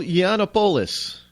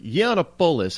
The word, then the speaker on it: Yiannopoulos: are in tears and feeling unsafe after Milo Yiannopoulos had an event there, and that's Milo is M-I-L-O, but Yiannopoulos, I think I'm pronouncing it correctly, Yiannopoulos.